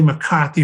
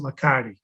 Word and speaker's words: McCarthy: So it was really McCarthy, but everybody pronounced it McCarty.